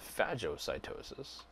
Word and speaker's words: phagocytosis: and there's two kinds phagocytosis some people will pronounce that Fazzio cytosis is when big chunks